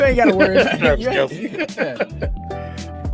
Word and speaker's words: Kelce: You ain't gotta worry about Travis Kelce. Or better yet, Kels, which is the right pronunciation.